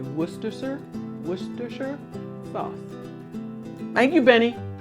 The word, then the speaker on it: Worcestershire: with all that pointing it's pronounced worcestershire it's that simple worcester sure worcestershire shop worcestershire sauce you have to take